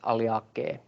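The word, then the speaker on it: Alliaceae: And yeah, then some other things like AE and OE are pronounced E. For example, Aliaceae should be pronounced Aliake.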